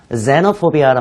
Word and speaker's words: xenophobia: 그럴 때 foreign phobia라는 말을 쓰는 게 아니라 xenophobia라는 말을 씁니다. xeno와 phobia를 붙입니다. 이때 xeno는 xenophobia, z 발음이 나와요.